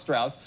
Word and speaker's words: Strauss: Well, it rhymes this way. Mouse Strauss.